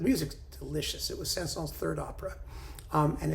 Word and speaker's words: Saint-Saëns: ever dreamed of Camille Saint-Saëns. Or some people say it's Saint-Saëns, and I don't pronounce the S, and therefore I'm evil and loathsome and vulgar, and you know, what can I tell you?